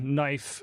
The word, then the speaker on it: knife: So let's take the word knife, for example. It's spelled with both a silent consonant and a silent vowel. So we don't say the K in knife and we don't say the E in knife.